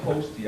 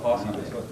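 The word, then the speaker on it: Hosty: But yeah, it's by the way, it is pronounced Posty. I used to call it Posse.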